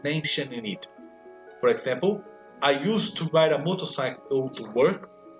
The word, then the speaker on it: used to: E qual vai ser a pronúncia? A mesma. Used to. Por quê? Porque eu tenho o to no final e me influencia lá no use.